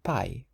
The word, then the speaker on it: pai: The word dad in Portuguese is pi pi.